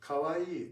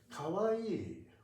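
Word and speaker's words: かわいい: But in in Japanese kawawaii is has four four moras four be careful because you you see yes uh number of hidana equals to the number of moas. So it is very important to pronounce E as two.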